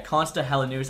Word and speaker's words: Konsta Helenius: I actually asked my Finnish friend Ken how to pronounce his name. So yeah, Konsta Helenius.